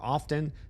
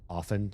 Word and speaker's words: often: And the the T in often is never pronounced apparently. Like soften, you never pronounce the T in that word either.